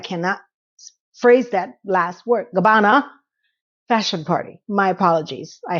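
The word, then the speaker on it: Gabbana: Ah, the Dolce and Gabani Gab. I cannot understand why I cannot phrase that last word. Gabana fashion party.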